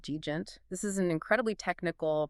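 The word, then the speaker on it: djent: had the sudden rise of a subgenre called deent.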